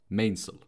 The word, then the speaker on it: mainsail: Though it's spelled mainsail, it's pronounced mainsail.